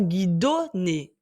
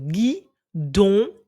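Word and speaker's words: guidonne: prononcer le son on si j'écris guidon g I d o n n e il ne faut pas lire guidoné puisqu'il y a o n suivi d'un autre n pour faire le son N donc gu don un autre mot qui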